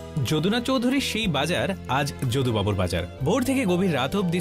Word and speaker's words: যদুবাবুর বাজার: একদিন আমি ভবানীপুরের যদুবাবুর বাজারে গেলাম, সঙ্গে ছিল কুহু। আচ্ছা দাদা, এই বাজারটা যোগু বাজার তাই না? যদুবাবুর বাজার, উচ্চারণের দোষে অনেকেই একে বলেন যোগুবাবুর বাজার।